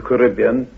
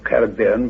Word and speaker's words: Caribbean: The Lycontian plain is now the Caribbean, or Caribbean, whichever pronunciation you prefer, sea.